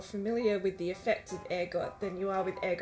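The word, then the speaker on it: ergot: you're probably more familiar with the effects of air gut than you are with egg on itself and yes it is pronounced air God I did a lot of research after mispronouncing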